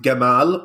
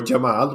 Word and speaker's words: Gamal: him grooming his son gamal or jamal whichever pronunciation my co-host would say gabal i would say jamal write aaron i say